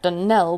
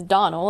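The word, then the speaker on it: Donnell: as often as not as for that Dell woman she'll get no delling from me I can assure you the name is Donal and always has been the woman is crazy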